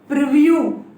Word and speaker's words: purview: भाई मेरे, आपने ये वाला वर्ड 100% सुना होगा, प्रीव्यू मेरे भाई। लेकिन वर्ड प्रीव्यू से ज्यादा इंपॉर्टेंट क्या है? परव्यू। खाली जरा फर्क है स्पेलिंग में, PURVIEW परव्यू होता है, एक प्रीव्यू होता है।